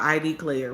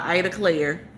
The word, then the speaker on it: Ida Claire: I thought it was called ID Claire, but it's maybe that's how they pronounce it down there, but it's called Ida Claire.